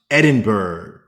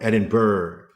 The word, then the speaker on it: Edinburgh: However, it has been constantly reminded to me that it's pronounced Edinburgh or Edinburgh, something like the G is silent.